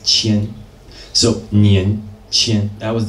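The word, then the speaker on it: 千: And the bottom one is pronounced qian.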